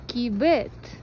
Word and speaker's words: кибет: Магазин кибет. Ударение на последнее слово.